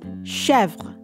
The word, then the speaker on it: Chevre: Again, we're missing accent marks for context, so we have 2 syllables in the name. We have che with the accent grave over the E, which makes the E sound open, and then we have V-R-E, Chevre, and the first syllable of the name is probably the most accented syllable, with the end of the name, the vre, syllable at the end being the unstressed syllable.